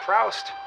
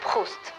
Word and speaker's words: Proust: Well, Look, it's not Proust. it's pronounced Proust.